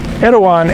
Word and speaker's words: Erawan: Erawan is actually the Thai way of pronouncing the word Airavata.